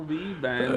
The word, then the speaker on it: V-band: No, V-band. Oh yeah. So it's a V and then band is with B, but the other place is a V because a clamp is a V.